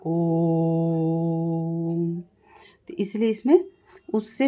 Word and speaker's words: ओम: जाता है जैसे ओम ओम का उच्चारण करते समय ओ को लंबा खींचा जाता ओम इसलिए इसमें उससे भी